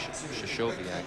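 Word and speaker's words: Krystkowiak: Well, people pronounce that name a lot of different ways. Shashoviak, I think, is the correct way.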